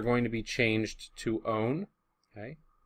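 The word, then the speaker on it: -one: to be changed to own okay spelled one like that but pronounced own and then the alahh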